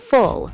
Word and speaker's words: full: Full has that short U sound. Full.